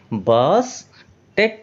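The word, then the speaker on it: Bastet: आप देख रहे हैं यह इसका उच्चारण बनता है। बॉस बनता है। बी ए एस बनता है। और उसके बाद में क्या है? दो बार टी है। तो यह क्या बनेगा? बास टेट बनेगा।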